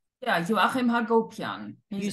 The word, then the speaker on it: Joachim: Well, because you sent me, you said that Joachim, is that how you pronounce his name? Yeah, Joachim Hagopian.